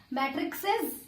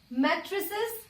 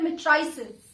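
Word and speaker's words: matrices: का मैट्रिक्स है, तो मैट्रिक्स का प्लूरल क्या बन जाएगा, मैट्रिक्सेस। जैसे बॉक्स का बॉक्सेस बना, जी नहीं, ये क्या बन जाएगा, मैट्रिसेस या फिर मिट्राइसेस। दोनों प्रोनाउंसिएशन सही है।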